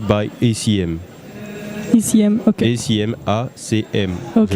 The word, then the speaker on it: ACM: ACM, A-C-M. Okay. Je prononce ça en anglais.